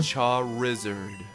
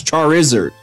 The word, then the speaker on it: Charizard: just saying don't even Shaw wizard it's char Izzard I hate that by all accounts you are actually right charizard's considering what it's named after it should be pronounced char Izzard and I hate said